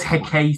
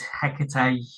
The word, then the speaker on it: Hecate: pronounce it I've heard he I've heard heck you know who knows it's it's tomato tomato isn't it there's no right or wrong way really well I know